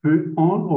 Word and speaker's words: peut-on: On peut dire peut-on ou peut-on avec ¿Cómo? les sons. Là. On peut dire peut-on ou peut-on avec la liaison.